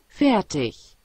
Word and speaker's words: fertig: 제가 뭐 발음이 좀 붙여가지고 한번 들어보시죠. Fertig.